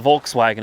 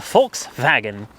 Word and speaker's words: Volkswagen: and I'll avoid the Volkswagen as well or the folks wagon I think is how it's pronounced that could be wrong